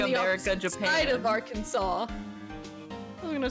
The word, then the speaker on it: Arkansas: What did Tennessee um con Kentucky the same thing are can sauce? Oh my god, that's horrible. That's not even how you say it. It's not even how you say Arkansas.